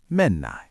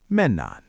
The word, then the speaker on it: Mennäänkö: To say let's go, we say menan. Say that for me. Menan. Good. Now, to make it a question, shall we go? The formal way is to add G at the end.